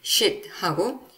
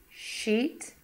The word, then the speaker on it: sheet: 그렇기 때문에 이 발음을 구별하듯이 shit하고 she. 저도 이거 발음이 너무 어려워요. 제가 그래서 이걸 한번 들려드릴게요. And then we're moving down here. And then we're moving down here to sheet.